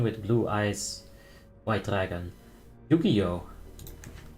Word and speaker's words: Yu-Gi-Oh!: Yu-Gi-Oh! It's spelled like this, Yu-Gi-Oh!